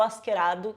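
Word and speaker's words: Askeladd: sim, eu tô falando do Askerado, que é mais ou menos assim como se pronuncia o nome dele em japonês, né?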